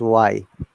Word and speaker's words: why: It is not why, it is why.